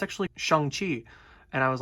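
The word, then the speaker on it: Shang-Chi: and also i did say shang chi because shang chi is actually the incorrect pronunciation of the name i did not know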